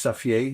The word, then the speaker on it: Xavier: guy in town Xavier his name is Xavier you pronounce it like that in Dutch and he just kind